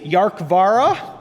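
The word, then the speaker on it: Dearcmhara: So it's pronounced roughly Yarkvara, and it means something like sea dragon in Gaelic.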